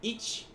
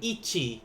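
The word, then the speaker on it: 一: Ich, like instead of ichi, ni, or so forth, they may go ich instead. It's going to be the same thing, but it's even though it's pronounced that way, the writing in Romaji will always be this way.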